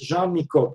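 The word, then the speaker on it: Jean Nicot: going to mention is Jean Miko just pay attention this is a French name when you come to the exam French pronunciation jeano okay 16th century French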